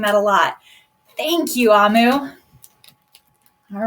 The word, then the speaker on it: Amu: Amu, pronounced Amu, is the Igbo term for queen.